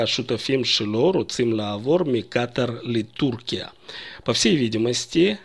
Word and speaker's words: Катар: Слово Катар я произношу с ударением на первом слоге. Я написал букву Алиф после буквы Куф. При этом в израильских СМИ чаще или, как правило, произносят Катар. Это неправильно в плане названия страны, но в Израиле так произносят. Катар, и тогда Алиф пишут после буквы Тет, чтобы прочитать Катар, а не Катар. На нашем канале мы произносим Катар, и, соответственно, Алиф будет после Куф.